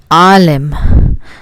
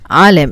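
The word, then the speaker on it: عالم: So that I can think of is alim. Alim. It has a bit of a deeper sound than I would say.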